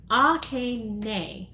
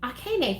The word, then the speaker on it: Akane: gonna shout out and you phonetically spelled your name last time that we did this and I'm sorry I'm I ain't go Akane hey Mike you're gonna get it Oh Akane okay nay okay nay thank you for putting it phonetically mm-hmm so yeah so